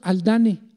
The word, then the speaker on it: Haldane: dos hermanos los hermanos aldán así se escribe con h aldán muchos dicen aldán o haldane y les pueden decir